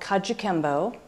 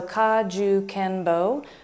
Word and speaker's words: Kajukenbo: style called Kajukenbo and that's a made-up word made up of syllables that represent the five styles that the art is so it's an eclectic art made up of karate judo and jujitsu Chinese Kempo and what's called Chinese boxing which really represents coelom pi kung fu so Kajukenbo the four syllables represent those arts and what's different about